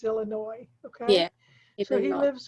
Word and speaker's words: Illinois: It's a strange way to spell a name that's called Illinois, but that's the name of the state is Illinois.